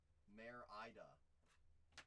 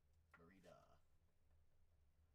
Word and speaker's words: Merida: Mare Ida. Yeah, I definitely have been saying it wrong the whole time. Merida.